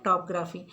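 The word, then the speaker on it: topography: और नेक्स्ट है टोपोग्राफी। टोपोग्राफी नहीं कहेंगे इसको, टॉपग्राफी कहेंगे। इसमें ओ साइलेंट है, सेकंड वाला ओ साइलेंट है, टॉपग्राफी।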